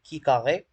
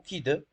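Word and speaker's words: khi-deux: En statistique et en théorie des probabilités, la loi de Key-2 centrée, prononcée Key carré ou Key-2, avec K degré de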